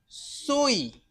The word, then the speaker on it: soy: आई का जो वाई का जो साउंड आएगा वो क्या आएगा? ई का. सोई.